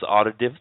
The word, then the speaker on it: Aridif: My name is Aridif.